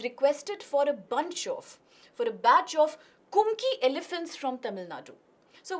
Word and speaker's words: Kumki: The first statement says the Kumki, it is also referred to as Kunki. In fact, there is another pronunciation for it. The term itself has been borrowed from Malayali language. It can also be Kumki, okay, with a double O.